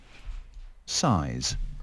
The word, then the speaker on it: size: Size. Size. Size. SIZE. Size. Từ này thì dễ thôi, nhưng các bạn chú ý phát âm âm Z cuối cùng cho mình.